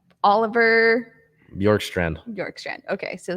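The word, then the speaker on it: Bjorkstrand: f oliver york strand york strand okay so the b is silent okay from the columbus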